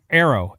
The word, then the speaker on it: Aero: It's pronounced it's it's pronounced arrow. Like aerospace.